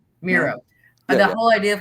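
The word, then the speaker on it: Mira: Um Mara Maria is how you say her name? Mera. Mera.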